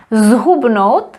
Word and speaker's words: zhubnout: the pronunciation changed because we have zhubnout, this is pronounced as z, and stloustnout, this is pronounced as s. Stloustnout, because it was affected by the T, which is voiceless, so stloustnout and zhubnout.